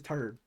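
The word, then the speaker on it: Terd: And yes, his name was Turd. That's his name. It's T E R D and that's why he's pronounced as Turd.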